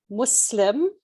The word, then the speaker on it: Muslim: is good um so the term is muslim it's a soft s because in arabic muslim the word muslim comes from islam which means to submit and it's a submission